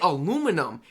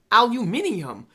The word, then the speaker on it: aluminium: Because we say aluminum. That's excluding the I aluminium. Man, y'all saying things properly. Aluminum. Here in Australia, it is aluminium.